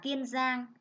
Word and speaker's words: Kiên Giang: Kiên Giang, các con chú ý cho cô vần yên trong tiếng Kiên, đọc là Kiên Giang.